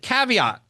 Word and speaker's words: Caveat: It's from 2020 and coming up in June at Caveat. Is that how you pronounce it?